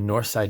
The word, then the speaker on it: Norside: So what I'm going to do is go with Norside Nelly. And again, that's how it's pronounced. In Pittsburgh, you have Southside and Norside, and that's just how they pronounce it.